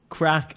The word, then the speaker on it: craic: It's crack as in fun. Crack is fun. It's a different word. It's like it's spelled like craic or something like CRAIC.